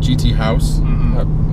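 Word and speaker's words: GT Haus: So that's how you say it. GT House. German house.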